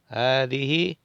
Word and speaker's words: هذه: Hadihi, no se lee el alef, acuérdense que lo hemos